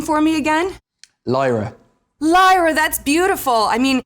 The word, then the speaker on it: Lyra: human she's like will you pronounce will you pronounce her name for me again lyra lyra that's beautiful i mean yeah in your